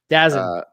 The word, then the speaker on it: DAZN: how I learned last week that's how it's pronounced. DAZN.